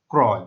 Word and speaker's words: ক্রয়: এটা ক্রয় হবে না, এটা হবে ক্রয়। কারণ আমরা পড়েছিলাম রফলা যুক্ত আদ্য অয়ের উচ্চারণ ও এর মতো হয়, কিন্তু এখানে ও এর মতো হচ্ছে না। কারণ হচ্ছে রফলা যুক্ত আদ্য অয়ের পর কি রয়েছে? অন্তঃস্থ রয়েছে। তাহলে তার উচ্চারণ কেমন হবে? ক্রয়।